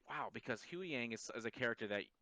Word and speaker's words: Huyang: So you know who how you say is it Huyang?